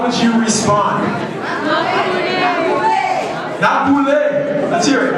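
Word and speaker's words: nap boule: Not boule. Let's hear it. Not boule. Not boule.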